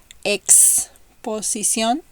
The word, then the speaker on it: exposición: Exposición, exacto. It's like in English, ex-husband, for example.